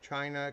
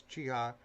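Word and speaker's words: Chiha: I always thought it was China because the way it is spelled out on the cylinder records, but it's Chia Frisco.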